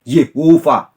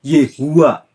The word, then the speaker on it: YHWH: Ada yang membacanya Yehovah, ada yang membacanya Yehua, ada yang membacanya Yahweh.